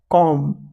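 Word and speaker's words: comb: तो इसके लिए कंघी का होता है कॉम कॉम बी साइलेंट है।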